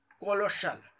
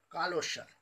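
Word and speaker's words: colossal: कोलोशल, कालोशल इसे पढ़ते हैं हम लोग, इसका जो होता है कालोशल, कालोशल शुद्ध उच्चारण कालोशल हुआ, इसका होता है बड़ा, विराट मतलब बहुत बड़ा चीज, उसे कहते हैं कालोशल।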